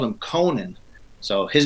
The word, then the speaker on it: Conan: to set this straight his name not Conan its Conan it's absolutely pronin based on you know the Irish pronunciation and his girlfriend at